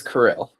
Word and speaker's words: Kirill: yeah, my name is Kirill. Okay, Kirill. Um I just it's spelled it's like I've never seen that name before so I was like okay, it's sounds like it's spelled but I just wanted